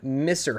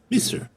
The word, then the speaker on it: Misr: You can see, with that extreme success, you can see the name Misser House in tiny letters at the bottom right. And Misser is spelled M-I-S-R. Mister.